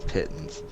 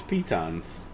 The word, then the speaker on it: pitons: of the dudes on glass cannon call them pittance uh probably there we go i've always known pitons as well i got this how to pronounce pittance what pitons it's pitons okay it is pitons yeah that's weird anyway